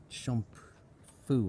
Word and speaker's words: Chomphu: or who constructed it this one's called what shamp Fu or something c h o m p h u that's the way we spell it um sometimes these spellings